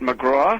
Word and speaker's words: McGrath: I believe he pronounces it McGraw. Ah, okay. Even though it's spelled McGrath.